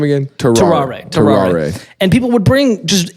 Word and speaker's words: Tarrare: Tarrare.